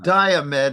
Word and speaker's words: Diomed: I think his name is always Diomed when people refer to him, I Right. believe. Yeah, that's another one. Yeah. That's Diomed, and that's the accent on the first syllable.